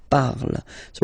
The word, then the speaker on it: parles: Then for tu, you will have to put es. Okay? Phonetically, tu parles. So you've got the two first forms, you pronounce them the same way. You write them differently, of course, because you've got here, and then you've got and s, okay? But then phonetically, they are the same.